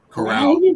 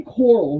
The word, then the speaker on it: Corral: Corral, like Golden Corral. I want to say coral, because it's spelled like coral reef, Yeah, I got you.